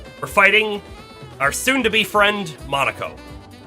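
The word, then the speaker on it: Monoco: We are, we're fighting our soon-to-be friend, Monaco. Monoko. It's Monoko, not Monaco. I keep saying it wrong.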